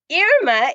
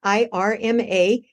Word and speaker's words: Irma: When people see my name in writing, IRMA, they often say Irma. And that is one pronunciation of this name, but my name is Irma, which is the pronunciation not just in Spanish, it's French, Italian, Russian, Wow.